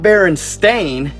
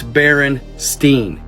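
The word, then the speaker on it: Berenstain: was spelled including myself it's not bearing stain it's Baron Steen but that's not why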